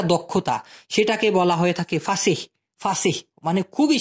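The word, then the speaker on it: fasih: ঠিক আছে, আচ্ছা, ফাসিহ, ফাসিহ, ফাসি না কিন্তু, ফাসিহ। হ্যাঁ, অনেকে এভাবে উচ্চারণ করে থাকে, ফাসিহ, এফ এ এইচ, ফাহ এস আই এইচ, ফাসিহ, ফাসিহ।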